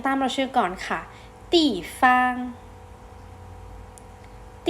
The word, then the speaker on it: 地方: เรียน ออก เสียง ตาม มา ช่วย ก่อน ค่ะ ตี ฟาง จะ ปี้ ฟาง อ่ะค่ะ ซึ่ง คำ นี้ แปล